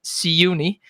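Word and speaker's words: Siyouni: Paddington is by Sayuni, who, if anybody doesn't know, because you might be following the jumps horses, he's a French stallion. Say it properly then. His name is Sayuni.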